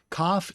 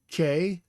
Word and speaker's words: kaph: Kaph in English is spelled K-A-P-H, and it's pronounced kaph.